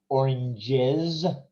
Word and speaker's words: oranges: pronunciation for this one so the fruit in plural oranges so the s we hear as a z and then here we